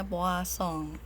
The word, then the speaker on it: Poisson: binomial yang kedua adalah distribusi puas song ya bacanya Boa song seperti itu Nah berikutnya